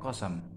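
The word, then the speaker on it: قسم: Kita lihat wal aqsamu jamak qasam. Lafal aqsam itu merupakan bentuk jamak plural dari qasam. Qasam ini dikasih tanda petik bahwa bi fathis sin. Cara bacanya adalah qafnya itu dikasih sinnya itu dikasih harakat fathah, ya.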